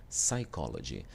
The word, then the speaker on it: psychology: Por exemplo, psychology, ok? O P ele vai ser mudo pra gente, tá certo? A gente vai dizer psychology. A gente chama de silent P, né?